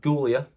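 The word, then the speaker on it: Giulia: the show uh gulia I'm going to call her not Julia gulia CU that's how it's spelled Julia is spelled j u l i a she spelled it g UI l i a so it's gulia gulia and roxan Perez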